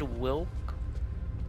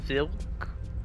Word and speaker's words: Wilk: They said Wilk, but it was Vilk. It was Neva. So it's like they pronounce that. What's this? Check the subject continue to manifest strong supernatural. Is this Thomas? So is that like a Polish thing? That when it's W's, it sounds like V's?